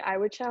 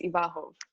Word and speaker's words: Iwachow: the audience knows um i just say i would show in english but it's ivarhov whatever whatever whatever you